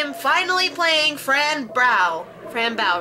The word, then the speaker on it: Fran Bow: finally playing Fran brow Fran bow right that's how you pronounce it like Rambo Fram bow I don't know all